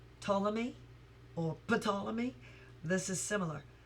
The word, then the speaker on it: Ptolemy: Like, what's another word where the P is silent? Ptolemy or Ptolemy?